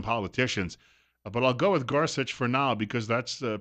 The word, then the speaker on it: Gorsuch: I wanted to see President Trump's announcement with Neil Gorsuch, and I've also heard it pronounced Gorsuch by some politicians. But I'll go with Gorsuch for now because that's the pronunciation I've heard more often.